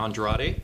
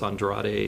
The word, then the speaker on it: Andrade: go ahead and explain it's not the way I pronounce it it's it's Andrade it's not and Mexican a lot of people say Andrade and Andrade and but if I said it in Portuguese it would be Mr Andra Andra how do you